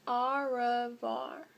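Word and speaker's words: au revoir: tell my fans rfr you say it like this ah var that's french for goodbye on my door i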